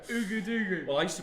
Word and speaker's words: Ouagadougou: Ouagadougou. Ugudugu. Well, I used to pronounce it like that.